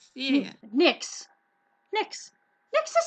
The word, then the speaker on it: Nix: Nix. Yeah. Nix. Nix. Nix is spelled N-I-X or N-I-C-K-S's, like a plural Nix, or N-I-X.